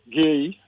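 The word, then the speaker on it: Guéhi: Even even for example the the the Crystal Palace um defender Gay. So that's how name pronounced.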